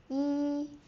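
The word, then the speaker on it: 一: Yi, first tone, never drop.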